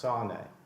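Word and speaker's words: שָׂנֵא: But it says here, the Hebrew word for hated in this verse 4 is S-A-N-E is the spelling. I think it's pronounced sane.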